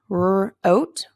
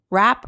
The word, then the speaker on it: wrote: one of these letters you don't hear both the wool and the sound and rap or wrote or